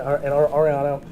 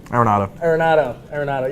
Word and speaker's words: Arenado: You know, they got Reynolds and Ariano. How do you say his name? Arenado.